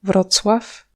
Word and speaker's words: Wrocław: Celle-là, c'est Wrocław, et pas Wrocław ou je sais pas quoi.